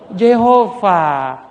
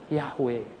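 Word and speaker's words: Yahweh: yang bener itu jeho Jehova ihwal bilang apa Hahaha Orang jahudi sudah lupa J ya jhv itu mereka lupa bacanya Yang bener bacanya itu adalah ya yahwe dengan enggak Kalau orang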